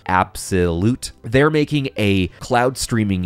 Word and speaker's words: Abxylute: here we have absolute apparently it's pronounced like that abxy loot absolute they're making a cloud